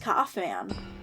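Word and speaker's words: Kaufmann: Kaufman? I don't know. Dude, he's handsome. He looks like Ronald Reagan. It's pronounced Kaufman.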